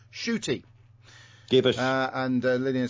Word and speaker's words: Ncuti: Butch has corrected us and said Ncuti, as it's written down phonetically, is pronounced shooty.